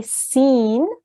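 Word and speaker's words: سين: So when we say Sin, your tongue is in the base of your mouth and you don't move your tongue up to the top of your mouth.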